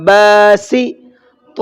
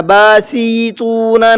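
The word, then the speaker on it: باسطون: ہے، سین زیر سی، جب نہیں کھینچا تو ملاتے ہوئے بھی میں نہیں کھینچوں گا، باسی، تو واو پیش تو، باسی تو، سمجھ میں آ رہا ہے آپ کو، نون زبر نہ، باسی تو، اب ایسے ہی پڑھنا ہے، باسیطونا نہیں کرنا ہے، وہ گڑبڑ ہو جائے گی، پھر غلطی ہو جائے گی، ہے نا؟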